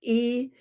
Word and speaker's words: Eostre: Eostre, the goddess of spring and dawn.